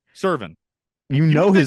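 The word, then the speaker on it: Serven: You would think Brian Severn shot someone. Why do you the way- always say his name wrong? Servin.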